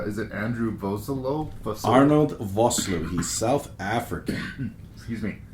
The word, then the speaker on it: Vosloo: the professional, cool-headed leader of this group, but Vosloo, is that how you say his name? Vosloo.